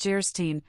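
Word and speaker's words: Geierstein: it for sale and of gyre Stein pronounced jerstein or the maiden of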